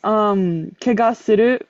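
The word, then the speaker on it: 汚す: And looking it up, it turns out kegasuru, like to kegasu to like is only ever used with the kitanai yogosu kanji, but it is always pronounced as kegasu when it's with a namae.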